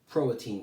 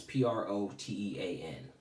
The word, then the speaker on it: Protean: Today's careers are known as protein careers. A protein career is based on, I might be saying that word wrong, it's Protean.